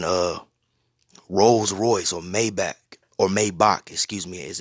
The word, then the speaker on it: Maybach: and you're freaking uh rolls-royce or maybach or maybach excuse me as it's pronounced you know don't be yeah man don't